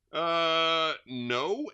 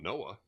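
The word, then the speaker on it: Noe: No, N-O-E. How do you pronounce N-O-E? No? It's not Noah. All right. Anyway, it just says no.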